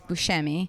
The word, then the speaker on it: Buscemi: call it i say buschemi but i think i'm wrong okay i think that's the italian way to say it is buscemi but i think he pronounces it who's scammy scammy okay i believe